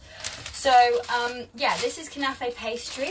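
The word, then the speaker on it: knafeh: when I visited last year and it's called canafe which is spelled k-n-a-f-e-h and it is an Israeli dessert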